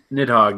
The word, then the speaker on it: Nidhogg: bit that's how you say it it Hawk nidhogg yep no I played that a little bit